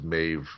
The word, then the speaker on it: Maeve: This is Maeve, spelled with a B, pronounced as a V.